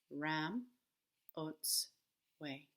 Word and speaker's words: Ramotswe: and I like this it's teaching us how to say her name Ram boats way Ramos this way but